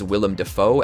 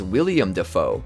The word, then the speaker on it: Willem Dafoe: In episode 3, Boys and Squirrels, Joe mispronounces Willem Dafoe as William Dafoe.